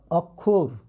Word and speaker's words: অক্ষর: অয়ের পরে যদি এই যুক্ত ব্যঞ্জনটা থাকে, তাহলে অয়ের উচ্চারণ কিন্তু ও হয়ে যায়। কি হয়ে যায়? ও হয়ে যায়। তাহলে সে অনুযায়ী এটার উচ্চারণ কি হবে? এটার উচ্চারণ হবে কিন্তু দেখো, অক্ষর।